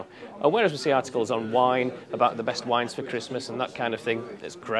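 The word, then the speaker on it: Waen: The first one I'm going to choose is a beer from the wine brewery. Quite confusing, pronounced wine, spelt W-A-E-N.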